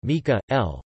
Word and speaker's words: Michaëlle: michaëlle Jean French pronunciation Mika Elle born September 6 1957